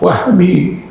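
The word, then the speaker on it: وهبي: Kalau Wahabi ada alif bacanya panjang. Wahabi, aliran Wahabi. Tapi kalau makna kurniaan wahbi.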